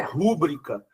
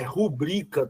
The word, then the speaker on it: rubrica: E a outra aí não é rúbrica, é rubrica, turma, rubrica. Beleza?